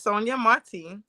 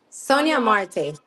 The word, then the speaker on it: Sonia Marte: Joining us is Sonia Marty. Is that pronounced properly? Sonia Marte. Oh, Sonia Marte. All right. Joining us is Sonia Marte, a dedicated leader right here in Udica.